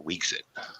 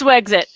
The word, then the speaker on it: Wexit: So is it Wexit or Weexit? It's Wexit. Wexit, okay.